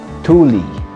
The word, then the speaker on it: Thule: Thule. Thule. Thule. Hi everyone! QAJ here and welcome back to my Sandbox YouTube channel. So simulan natin ang review sa tamang pag-pronounce ng brand na ito. Thule.